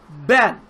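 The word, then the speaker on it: בן: the word uh Ben if you want to say son in Hebrew you would say Ben you would use the Hebrew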